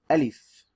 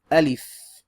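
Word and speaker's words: ألف: right here is called a leaf repeat after me a leaf one more time a leaf and that is like you're saying a L I F a leaf a leaf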